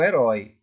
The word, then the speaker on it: herói: Aqui eu tenho a palavra, não vamos confundir heróico com herói. É sílaba tônica, é uma oxítona. Na última sílaba, a palavra tá mais forte, ó. Ri, dói, anéis. Então, herói.